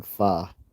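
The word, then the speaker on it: phở: Vietnamese noodle soup it's spelled pH but it's pronounced fa and as I and it's also funny cuz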